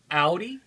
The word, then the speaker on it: Audi: Someone had a hard time pronouncing this name. Audi?